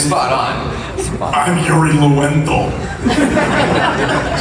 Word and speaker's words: Yuri Lowenthal: I'm Yuri Lowenthal. That's how you pronounce it, right? That is exactly right. Lowenthal? That's exactly right. Uri Lowenthal.